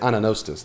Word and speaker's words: anagnostis: Anagnostis, that's it, anagnostis. The G is silent, anagnostis.